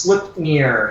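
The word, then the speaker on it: Sleipnir: that's new to the DC Universe um it's pronounced slip near it's Odin sorus from Norse mythology my bad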